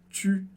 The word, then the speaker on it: tu: Você pode pensar no som do i e arredondar os seus lábios, como no exercício que a gente fez antes, e chegar no som u.